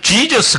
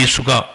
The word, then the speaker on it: 예수: 그리고 사실 영어 발음에서 지저스 그렇게 하는데 실제 예수라 단어 이름 발음은 헬라어로는 예수입니다 예수 수예요 이름 자체가 원이에요 그니까 우 구원자로 오신 거예요네 번째 선지자 이사야가 그 하나님이 보내실 그 아기 예수가 어떤 존재인지 정확하게 알려줍니다